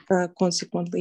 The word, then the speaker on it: consequently: Consequently, yes, the first syllable stressed.